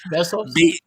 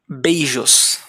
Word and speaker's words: beijos: Besos? Beijos.